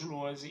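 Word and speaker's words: Lohse: Meu canal no YouTube é o Luozi. Luozi se escreve L-O-H-S-E, se escreve com Z.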